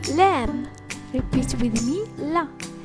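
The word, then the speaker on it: ل: The letter Lam. Repeat with me, La. This letter pronounced like the English L and letter.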